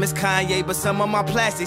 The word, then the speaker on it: Kanye: Now all I need is y'all to pronounce my name as Kanye, but some of my plastic still say Kane.